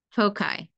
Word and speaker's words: foci: Yes, multiple focus, pronounce foci.